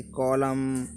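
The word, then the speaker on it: column: एम के बाद आया हुआ एन प्राय साइलेंट हो जाता है। जब भी एम के बाद अगर एन आता है तो वो साइलेंट हो जाता है। जैसे कि कॉलम, कॉलम मीन्स खंबा, ठीक है जी।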